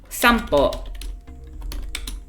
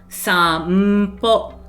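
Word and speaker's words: さんぽ: You pronounce it as an sound, even though it's like the character. Sampo, because po starts with we call it bilabial in phonetics. So po. Both of those are bilabial sounds.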